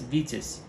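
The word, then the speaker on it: Витязь: I believe in in Russian itself um it's pronounced as vitus so basically that's how we're gonna refer to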